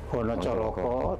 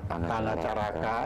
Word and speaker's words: Hanacaraka: Jadi yang sudah kita pahami, baris pertama itu Hono Coroko, tentu saja kalau orang Sunda ya membacanya menjadi A, Hanacaraka, itu hanya masalah pembunyian, pembacaan, ya. Banyumas Kebumen pakai A juga. Banyumas A, misalnya orang Jawa Tengah sama Jawa Timur pakai O, ya.